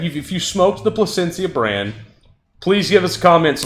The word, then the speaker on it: Placencia: want to be clear it's not placenta no matter how many times you're tempted to pronounce it that way and every time i